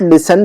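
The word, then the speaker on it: listen: कहेंगे ही देस नॉट लिसन तू अन्य वैन ही देस नॉट लिसन लिसनिंग कहेंगे हम इसको लिस्टर नहीं कहेंगे टी साइलेंट है यहां पर लिसन लिसन और इसका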